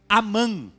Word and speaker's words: Amém: verdade é Amém que em hebraico se pronuncia Amã interessante hebraico se pronuncia